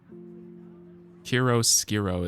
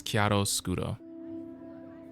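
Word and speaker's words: chiaroscuro: Kiro Skiro is definitely not how it's said. It's Kiato Scudo.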